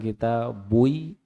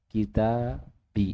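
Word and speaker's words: كتابي: Jadi bukan kita bui atau kita baik pasti bacanya kita bi itu namanya harakat penyesuaian namanya.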